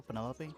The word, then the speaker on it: Penelope: is that short for Penelope a fan be bothered with all four syllables of it Penelope sounds a little ostentatious